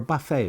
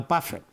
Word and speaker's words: buffet: It's like a smorgasbord for me to go through that, or a buffet if you prefer. The T is silent. I'm never a buffet, like a Warren Buffett.